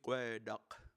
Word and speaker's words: geoduck: And then this one is Gua'ai de Chapoti Gueduck. Gueduck is one of our only words that went from Lushootseed into the English language. Even though it's spelled geoduck now, we'll give that a pass.